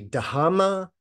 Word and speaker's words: Dhamma: sutta is called the dama sadana sutta now dama is the poly pronunciation of Dharma right Sanskrit that harder